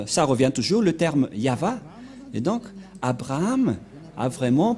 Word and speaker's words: Yahvah: est placé au milieu c'est l'alphabet hébreu qui est prononcé yava et dans Genèse 2133 bchit on voit bien va excuse-moi voilà donc ça revient toujours le terme yava et donc Abraham a